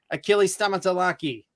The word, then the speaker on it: Achilles Stamatelaky: the movie quiz you're you're uh guest tonight achilles tamatolaki hey you nailed that pronunciation of my last name you know i